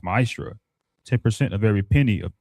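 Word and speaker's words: מעשר: It means 10th in Hebrew and is pronounced ma'asra.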